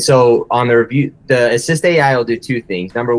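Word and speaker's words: AssistAI: people there two eyes so assist AI is what it's called and it has two eyes so assist a we call it assist AI but it's spelled assist aii to be on brand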